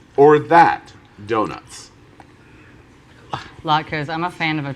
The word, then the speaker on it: latke: latkes or that donuts? Latkes. I'm a fan of a fried potato in any form, really. Really? Latke. This or that? Latka.